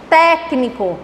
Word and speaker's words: técnico: Exemplo, técnico. Olha a pronúncia. Técnico. Terceira sílaba. Técnico. 1, 2, 3.